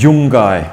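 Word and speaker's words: djungkay: the the word in gone Ingo is called young guy we spell it DJ u ng ka Y and the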